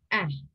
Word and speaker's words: ere: Here, the word ere is pronounced as eh, that means before.